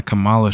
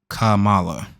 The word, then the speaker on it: Kamala: So, she's wearing a Camala shirt. Kamala. Kamala.